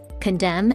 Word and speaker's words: condemn: there's a silent c condemn ends with a silent n and psychology starts with